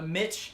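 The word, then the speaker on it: MICH: Alright, so this thing is called a Mitch helmet, which is spelled M-I-C-H. Which is, yeah, why I say Mitch and not Mike, I guess.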